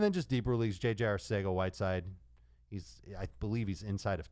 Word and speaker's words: Arcega-Whiteside: Arcega-Whiteside, Dave. I know. He's Spanish. I think both of them are acceptable. That's true. Both players are very good, Arcega and Arcega.